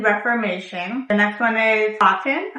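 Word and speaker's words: Kotn: the next one is coton I think that's how you say it but it's spelled k o TN the next one is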